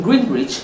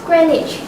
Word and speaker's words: Greenwich: In Greenwich this morning, a car exploded in the... It's Greenwich. Don't be fooled by the spelling.